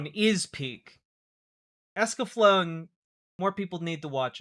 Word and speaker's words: Escaflowne: Okay, I've just been informed that Escaflowne is actually pronounced Escaflowne, which is fine.